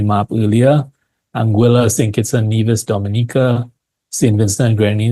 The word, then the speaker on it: Dominica: earlier anguila sink Nas Dominica St Vincent gr Dominica should not be confused with Dominican Republic it's actually pronounced a little bit differently as well uh Grenada